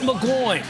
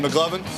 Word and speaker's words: McGloin: Matt McGloin. You mean McGlovin? Willie's going to have me saying his name wrong.